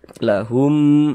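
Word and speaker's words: لَهُمْ: Lahum, di bagian humnya kita tahan, kita panjangkan sejenak, kita dengungkan. Lahum billail, seperti itu.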